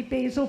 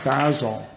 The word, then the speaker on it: Basil: That would be Basil Biggs. Correct. All right. Very good. Well done. Although I think it's pronounced Basil.